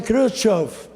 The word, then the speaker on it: Khrushchev: A pronúncia é Khrushchev, Nikita Khrushchev, que significa o quê?